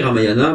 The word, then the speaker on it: Ramayana: parler du ramayana oui ça s'écrit ramayana mais ça se prononce comme ariane alors je suis très content